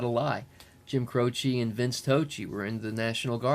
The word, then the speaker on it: Croce: Crow to his rot his name rhymes with mine Mike Tochi Jim Croce and he grew up